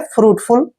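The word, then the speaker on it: fruity: है next word है एफ आर यू आई टी वाई ये भी ऐसे ही है एफ का उच्चारण फ करेंगे आर को र लिखेंगे यू आई को उ की मात्रा पढ़ते हैं और टी वाई को टी पढ़ेंगे फ्रूटी फ्रूटी फ्रूटी होता है फल जैसा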